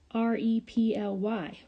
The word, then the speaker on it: reply: And it's R-E-P-L-Y, reply. And we have that long I sound spelled with a Y.